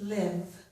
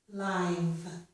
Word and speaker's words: live: Well, as a verb, this word would be pronounced live. I live here. But I was pronouncing it as an adjective. As an adjective, it's pronounced live.